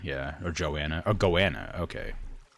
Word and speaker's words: goanna: are called goas goana rhymes with Joanna yeah or Joanna or goanna okay not goana goanna anyway it ran like